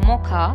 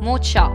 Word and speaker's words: mocha: incorrectly pronounce it as mo cha please remember CH a here will be pronounced as car and not cha so the correct pronunciation